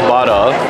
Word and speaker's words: Bada's: So correction, it is pronounced Bada. So it's Bada's barbecue, guys. I already knew. Bada, like Bada Bing, Bada Boom.